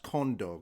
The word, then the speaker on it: Kondo: I believe it's pronounced Kondo because he is Japanese.